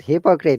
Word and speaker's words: hypocrite: I Monica, pronounce it as hypocrite. you are right. Hypocrite, not hypocrite.